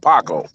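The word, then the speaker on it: Jacó: silver Vibe yeah but it's spelled j-a-c-o but it's called Paco r with an H yeah the the sea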